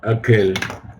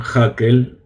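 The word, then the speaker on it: הקהל: No digan Hakel. En hebreo la Hei no se pronuncia. En general se dice Hakel, se saca un poquito de aire de la garganta, Hakel, pero es preferible no decir nada y no decir Hakel, porque Hakel ya es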